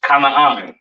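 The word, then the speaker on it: כנען: This is pronounced Kanaan, all right?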